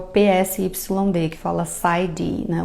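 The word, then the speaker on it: PsyD: PS yd que fala Cid né o p é mudo mas os dois são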